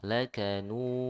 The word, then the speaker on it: لكنود: Karena di sini sebelumnya ada dhammah dan cara pengucapan dhammah itu dimonyongkan, maka madnya juga ikut monyong, ya. Lakanu, ya. Terus sampai selesai madnya. Lakanud. Baru diakhiri dengan qalqalah. Nah, ulang.